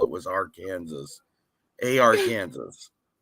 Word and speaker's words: Arkansas: it was our Kansas A.R Kansas when when people were calling it Arkansas I was like I've